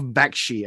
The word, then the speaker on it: Bakshi: Ralph Bakshi, I believe is how they pronounce it.